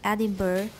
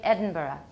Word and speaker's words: Edinburgh: Will sound to a Scotsman from Edinburgh. Okay, the American pronunciation is Edinburgh because we don't know how to say it right.